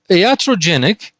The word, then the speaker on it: iatrogenic: Now, iatrogenic.